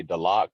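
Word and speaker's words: Tallac: same occurrence and that's talaq um on the south side of lake lake tahoe so mountain to lack or as we would say the lock in our language mount de la means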